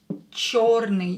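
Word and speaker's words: чёрный: And today's adjectives are черный, черный, черный. Yo is always stressed, черный. So try to pronounce it longer, emphasize it.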